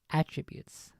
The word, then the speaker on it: attributes: person of a character it's attributes but the emphasis on the first a attributes these are the attributes and the quality of this person however when you're trying to to say that um an idea or a thing belongs to somebody then you would attribute it like I would attribute